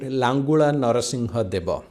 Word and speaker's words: Langula Narasimha Deva: by a king named langula narasimha deva okay so that's how we pronounce it in odia langula narasimhadeva and he